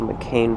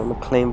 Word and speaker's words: Mcclain: The trail we're doing today is called Mcclain Valley or Mcclain Valley, depending how you pronounce it. Some people say it with the L, some people say it without the L.